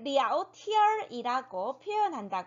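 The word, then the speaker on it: 聊天儿: 발음 기호로 따지면 " 랴오티안 " 이지만 , 대화 할 때 는 보통 " 어 " 소리 를 덧붙인다 고 설명 했어 요 .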